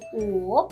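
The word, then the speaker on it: 五: Wu. It's a bit tricky to pronounce it because it's the third tone. You have to go down and then go up.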